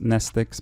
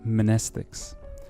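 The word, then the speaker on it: mnestics: For now, all you need to know, it makes you remember things, and the M is silent. It's just nestics. It'd be great if it was called monestics.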